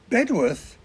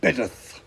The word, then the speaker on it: Bedworth: the town of happysburg bedworth becomes bedith Magdalene colleges call themselves